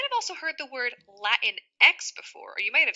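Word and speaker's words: Latinx: typically it is pronounced Latin X Spanish speakers May pronounce it Latin X Latin X because the I makes more of an e sound in Spanish so a Latina is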